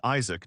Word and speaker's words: Isaac: My name is Isaac, not Isach, as you keep saying.